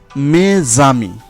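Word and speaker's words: mes amis: কিন্তু যদি কোনো শব্দের শেষে অনুচ্চারিত কনসোনান্টটি এস থাকে, তাহলে তা যখন সন্ধি করবে তখন এসের উচ্চারণ হয়ে যাবে জয়ের মতো। যেমন মেজামি, এখানে মে শেষে এস আর আমির শুরুতে স্বরধ্বনি আ রয়েছে, তাই মেজামি।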